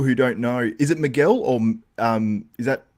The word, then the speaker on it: Miguel: Miguel for people who don't know is it Miguel or um is that pronounced right or no yes it's right it's right Miguel now I've also got to ask as well